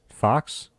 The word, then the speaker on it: Fuchs: ever Leon Hart hmm it could be Fuchs f-u-c-h-s I think that's fox fox yeah there we go look at